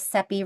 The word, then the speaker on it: Cepee: Again, my name is Cepee, rhymes with Peppy.